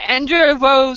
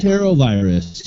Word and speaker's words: Enterovirus: So if you could pronunciate that one for me, because and is it Enderevo 68? I'm showing my lack of knowledge on this disease in pronunciating that's killed people. Enterovirus. Enterovirus. Thank you.